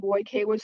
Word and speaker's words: Vojkovic: It's supposed to be white cabbage, but we were teased about sounding like a vegetable, so I pronounced it more how it's spelled, Vojkovic, so you were very close.